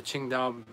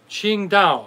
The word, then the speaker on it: Qingdao: germans that started the qingdao qingdao okay now i have no idea why it's spelled this way but the correct pronunciation is ching like q i-n-g d-a-o okay that's the